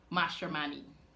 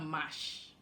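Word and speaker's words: Mashramani: How do you pronounce the word for Guyana Carnival? Mashman, right? We have mash or Mashman, but we say mash for short.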